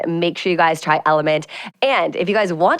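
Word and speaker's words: LMNT: com austin a f so it's pronounced like element but it's actually drink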